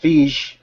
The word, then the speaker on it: Feige: Sorry, T, is it Feig or Feige or Kevin? I pronounce it Feige.